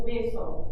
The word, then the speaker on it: hueso: this list is el hueso. That means the bone. Everybody say el hueso. El hueso. I know that one can be a little bit confusing because it starts with an H.